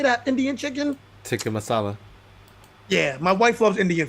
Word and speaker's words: tikka masala: Tikka masala.